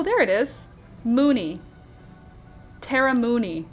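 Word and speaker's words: Mooknee: Tara Mooney. Not Melanie. Mooney. But she does spell it M-O-O-K-N-E-E. Mooney.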